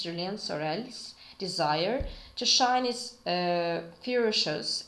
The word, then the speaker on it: Julien Sorel: So here, Julien Sorel, okay, in French pronunciations it's Julien Sorel's desire to shine is